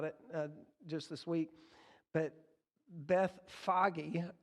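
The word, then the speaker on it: Bethphage: just this week but beth foggy is how they pronounce this and i guess in hebrew i always say beth page because i miss i just skip the h that's in there the extra h that's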